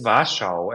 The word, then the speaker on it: Warschau: But during my birthday in November, end of November, I will go to Was what in German it's Warschau, and I always in Poland.